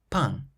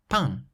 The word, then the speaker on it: pain: A nasal sound is produced in French whenever you have a vowel followed by the letter M or N at the end of a word. For example, pain, pain, meaning bread.